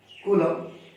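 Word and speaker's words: coulomb: of charge is basically Kum we pronounce it as Kum but the spelling see the spelling colum so better we read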